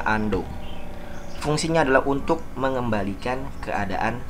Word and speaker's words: undo: pertama yaitu perintah undo walaupun tulisannya unduh dibacanya Ando fungsinya adalah untuk mengembalikan